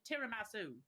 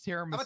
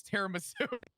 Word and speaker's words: tiramisu: Is that how it's actually pronounced? Yeah. Tiramasu. It's tiramisu. Italian. What do you want from it? I'm also Italian. It's tiramisu.